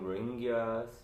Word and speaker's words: Rohingya: I've been told that you want to know more about the Rohingya issue. You pronounce it as Rohingya. Oh, we heard people saying Rohingyas, but some people saying Rohingya.